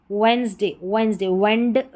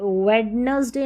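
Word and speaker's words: Wednesday: वेंसडे, वेडनेसडे नहीं, वेंसडे, D silent है।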